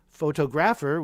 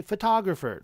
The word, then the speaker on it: photographer: and technically English is we don't say photographer, we say photographer. So photograph is photograph. We have three syllables, but the last syllable, okay, it's the pen anti-pen ultimate uh syllable is is um is stressed. And so it's fo faux graph. But if we add the to the end, now that shifts over to the next one, photographer.